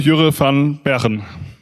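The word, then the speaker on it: Jurre van Bergen: Okay, then please welcome Jure van Bergen. By the way, that's the best pronunciation of my name ever by foreign people.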